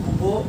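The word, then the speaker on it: Bouveault: Blank reduction, blank reduction, এটা বাংলা হচ্ছে বুবো blank reduction, BOUVEAUL, বৌভাট করবে না বাবা, বুবো ব্ল্যাঙ্ক রিডাকশন। অনেকে উচ্চারণ করে বউ ফেলছে, BOU বউ ব্ল্যাঙ্ক রিডাকশন, না, ওর উচ্চারণটা বুবো ব্ল্যাঙ্ক রিডাকশন।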